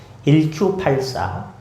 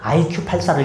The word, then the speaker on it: 1Q84: 1Q84. 저는 처음에 그걸 IQ84로 읽었어요. IQ4가 아니고 원래에 일본 단어 발음을 할 때 Q라는 단어와 숫자 9라는 단어가 비슷합니다. 9쿠 해 가지고 요걸 이렇게 어 바꿨는데요.